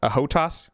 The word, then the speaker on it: HOTAS: Probably an Xbox controller because I don't have a HOTAS, I believe it's called.